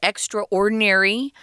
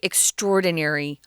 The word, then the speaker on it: extraordinary: out of this world sometimes you'll hear people pronounce it extraordinary that's not incorrect but i would say and tom agrees with me most people say extraordinary extraordinary so it's pretty a cool product here